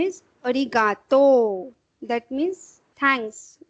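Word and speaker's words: ありがとう: Same the pronunciation is arigato.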